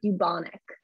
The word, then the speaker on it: bubonic: technical term which is bubonic plague okay so you should be pronouncing it the uh bu like as if there's a y after bubonic okay that is the